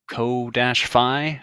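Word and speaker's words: Ko-fi: a co-fi. There's probably a better way to pronounce that. Coffee? But that goes, yeah, coffee. Let's call it coffee.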